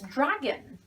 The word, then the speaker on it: dragon: the next one is dragon this o is either a schwa sound or you try not to pronounce it it's a better way